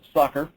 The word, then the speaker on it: SOCR: statistics online computational resource commonly known by its acronym SOC are pronounced soccer in my opinion its